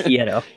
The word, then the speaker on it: Hierro: We had a listener chime in, so thank you to that listener for correcting us on prior pronunciation. But it's Hierro.